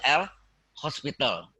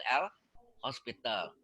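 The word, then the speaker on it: L'Hôpital: Hospital nggak pakai S ya, pakai topi. Kalau pakai S hospitalnya rumah sakit nanti. Jelas maksudnya? Di dalil L bacanya hospital tapi tulisannya tidak ada S-nya karena topi itu ada S ya.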